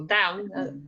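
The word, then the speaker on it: dubh: named okay so next one is down so down again if it's written like this but it's pronounced as bounce so down that is brown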